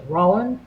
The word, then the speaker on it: Roland: charm whole queen alexa rolling ross slatsky and zhonya by the way you've all been saying it wrong the whole time it's my name is roland i said it right okay so okay all